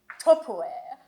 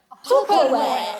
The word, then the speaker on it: Tupperware: Ça vient des États-Unis. Ça s'écrit T-U-P. Peut-être de P. E-R-W. Enfin, ça s'écrit très bizarrement. Mais ça se prononce Tupperware. Tupperware à l'américaine.